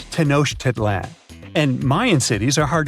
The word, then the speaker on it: Tenochtitlan: Okay, it's Tenochtitlan. And Mayan cities are hard to pronounce too.